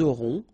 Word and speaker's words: auront: liaison here, vous aurez, ils auront, final T not pronounced, elles auront.